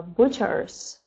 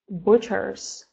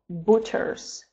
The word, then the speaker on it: butcher's: It's not a meat shop, it's a butcher's. Butcher's. That's right. До речі, зверніть увагу, правильно читається butchers. Ні в якому разі не butchers, як багатьом хочеться прочитати. Butchers.